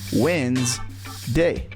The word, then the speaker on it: Wednesday: example the word Wednesday if you read it the way it's spelled it would sound like Wednesday but in reality it's just two syllables the way you pronounce it is simply Wednesday Wednesday same thing with